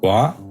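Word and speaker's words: は: "Inu", and at this early stage we have to make a choice, what particle should we use? "ha" (pronounced as "wa") or "ga".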